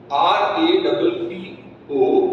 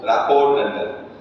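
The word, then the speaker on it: rapport: patient that will build r r a p o r RT is silent rapo rap not rap is rap rap trust Mutual understanding okay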